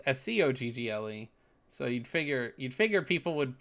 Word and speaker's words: Scoggle: which is funny because most people is like Skuggle. Like, very few people pronounce Skoggle correctly, which is funny because we have the word toggle that is almost identical to the word that is pretty well known, Toggle, and Skoggle is Scoggle.